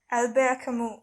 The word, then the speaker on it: Albert: written by albert camus am i right albert so it's that it's the french pronunciation but yes has it